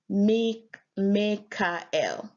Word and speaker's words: Mikael: Mikael, pronounced Mekael, meaning in modern Hebrew, who is like God.